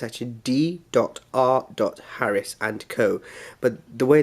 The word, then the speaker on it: D.R. Harris: First of all, I bought some cologne from D.R. Harris. It looks like the pronunciation is Dr. Harris and Co, but it's not. It's actually D.R. Harris. The D.R. is a initial.